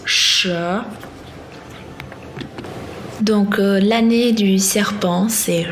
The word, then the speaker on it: 蛇: Comme vous l'avez entendu, le signe du serpent, le serpent en chinois se prononce she.